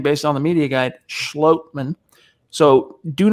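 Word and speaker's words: Schlottmann: your own one of your denver broncos austin schlotman and that is how it's pronounced per the demo broncos media guide well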